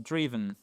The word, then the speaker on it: driven: D'ailleurs, vous voyez que le i ici se prononce non pas comme un I, attention, driven.